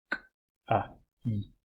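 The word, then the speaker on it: καί: K, A, I fica Kai. Isso na pronúncia erasmiana. Problema é que, problema não, né? Mas a questão é que quando você junta duas vogais, alfa e iota, esse encontro vocálico modifica a pronúncia. E os gregos, os nativos de grego, tratam esse encontro vocálico como um elemento só, então vira um som só.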